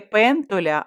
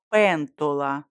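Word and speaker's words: pentola: до них і виправила не пентоля а пентола Славка сміливіша стала з крісла до тої пані з книжечкою дивись тут написано пентоля пані Лена пояснювала що в цьому словнику написана вимова з Неаполя на півдні А на півночі де вона робить у Мілані усі вимовляють твердо о скільки та знає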